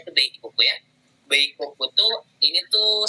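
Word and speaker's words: 米国: Ini tuh dibacanya tuh Beikoku ya.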